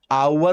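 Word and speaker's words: hour: जैसे यूनिवर्सल हो गया, यूनिक हो गया, आवर हो गया, ऑनेस्ट हो गया। ये किताबें हमें याद करवा देती है कि आवर से पहले एन आएगा क्योंकि एज साइलेंट है।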